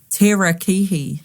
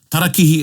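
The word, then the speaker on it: tarakihi: One that always annoys me on fish species is terra kihi. Yeah. Well, that's um pronunciation and a lot of the time people have heard it pronounced incorrectly their whole life.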